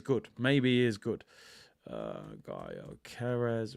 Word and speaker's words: Gyökeres: So we got Osimhen, Tony, Xerxes, and Gyökeres. I'm finally pronouncing his name right now.